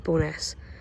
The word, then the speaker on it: Bo'ness: And for those who don't know, I think the full name for Bo'ness is Barrowstoness, but no one ever calls it that. And it's never written out that way. It's always just written out as Bo'ness, or pronounced as Bo'ness, which you can see